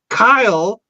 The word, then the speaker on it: Kyle: There's two syllables. It's a single. In there, there's not. There's one. It's Kyle. It's one syllable.